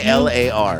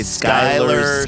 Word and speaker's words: Sklar: S-K-L-A-R. I know. It's This so is easy. four Sklar. But this is 4 everybody wants to say Skylar, Skeeler, I Scalar, know.